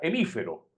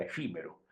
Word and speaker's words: efímero: Fue un movimiento, como diría Zamorano, equivocando la palabra, hemífero. Zamorano nunca pudo pronunciar la palabra efímero.